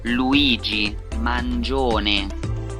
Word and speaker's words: Luigi Mangione: Like, it's Italian, so give me the Italian pronunciation, you mutts. Ah, here we go, YouTube. Pronounce names. The Italian pronunciation of this name is Luigi Mangione. Mangione. Luigi Mangione.